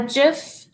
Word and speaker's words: GIF: but for right now what is a jiff gif Jeff I said it right the first time whoa messy authentic learning